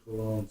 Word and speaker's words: Cologne: That was Cologne. They call it in the German Koln. We pronounce it Cologne, Cologne.